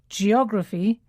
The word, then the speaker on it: geography: you hear the difference when we say adjectives that end with i the stress falls on the penultimate syllable that's the syllable just before the last one so it's geography but Geographic geography Geographic and we have photography photographic yes and there's other